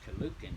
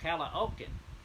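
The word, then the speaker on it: Caloocan: far as the vowels so i c-a-l-o-o-c-a-n is collucan to me and it's called oak into them and they thought i lost my mind they said we have no clue so i showed it to them and they said oh calla oakland before you and it's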